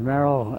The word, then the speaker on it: Merril: give me your name so we'll have it pronounced correctly my name is Merrell L girl is your first name that's